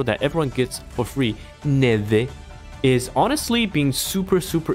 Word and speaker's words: Neve: Neva? No, okay, how do you pronounce her name? Someone told me already in chat. It's an Italian name. It's snow in Portuguese. And this is what it means. Neve.